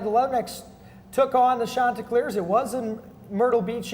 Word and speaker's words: Chanticleers: 4, back in action, visiting the Coastal Carolina Chanticleers, that's how you pronounce it, by the way.